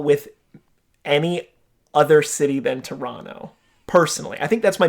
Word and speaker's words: Toronto: I pronounced both T's in Toronto. Some people say that's wrong. Toronto tempo. Toronto tempo. I think it does sound better if you don't pronounce the second T.